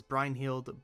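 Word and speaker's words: Brynhildr: Brin helders Maya also I know engage pronounces it as brine held but I think that's a stupid pronounciation um Nina is our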